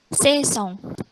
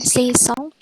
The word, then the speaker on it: saison: Nah gitu, jadi kalau ada AI tidak usah bingung, langsung, oh kalau A sama I itu dibaca E.